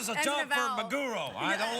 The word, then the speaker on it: maguro: No, maguro. roll? Yeah, it's maguro. I know. Spell it. No, it's What's a it's maggot? tuna fish. Mago. Tuna fish. Tuna. Tuna. Magoro.